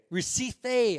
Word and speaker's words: Recife: Lightness, peace song, Recife, is that how you pronounce it? Recife.